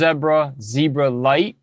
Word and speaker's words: Zebralette: So this is pronounced as Zebra, but this is Zebralite.